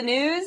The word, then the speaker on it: Gnooze: hello and welcome to the news the g is silent President Bush is calling